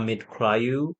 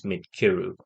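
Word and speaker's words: Midcyru: It's not Midkrayu or Midsiru as we used to think. The pronunciation is Midkiru.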